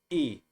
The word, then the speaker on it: y: the letter y it's when the letter y is by itself you say it like this e it's just like saying the letter e in english e and it means and but when the letter